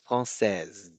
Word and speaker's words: française: You actually need to pronounce the S like a Z sound, française.